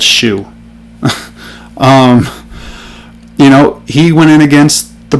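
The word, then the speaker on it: Shough: I don't care if his last name is Shuck. I'm not saying Shuck. It's spelled Shue.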